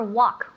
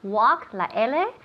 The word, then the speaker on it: walk: perfect excellent so remember walk walk the l is silent okay remember we don't